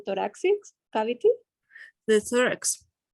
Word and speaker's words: thorax: The thorax. Like yeah. Thorax. Yeah. The thorax, like the third one, the thorax, yeah. But the classic TH, right?